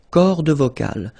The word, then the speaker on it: cordes vocales: Les cordes vocales. So you can notice that as usual in French, you've got this mark of the plural at the end, S, and then S here as well, but you don't pronounce them, okay?